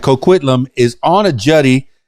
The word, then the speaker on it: Coquitlam: But tell me, how do you pronounce Coquitlam? Is that right? Coquitlam.